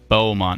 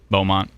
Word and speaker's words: Bowmont: help by the way uh bont not bont my bad Bowmont I know I always